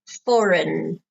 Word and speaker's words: foreign: the pronunciation of foreign it has a g in it we do not pronounce the G foreign have you ever had